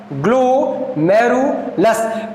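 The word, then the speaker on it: glomerulus: इसका प्रोनाउंसिएशन सही तरीके से बनना ग्लोमेरुलस।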